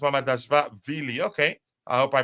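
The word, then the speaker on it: Mamardashvili: It's pronounced Mama Dash Valley. Is that Vili? The last part of it is pronounced Mama Dash Vili.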